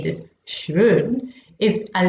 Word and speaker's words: schön: The reason why I'm saying this schön is, and it's practically coming from my stomach, the schön, is that the O has an umlaut on it. Now that changes the pronunciation from straightforward O to Ö.